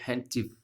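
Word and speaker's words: handkerchief: इसी प्रकार से ये देखो, इसमें भी डी को नहीं पढ़ेंगे, आर भी नहीं पढ़ेंगे, हैंडचिफ, हैंडचिफ, हैंडचिफ, ठीक है ना, हैंडचिफ।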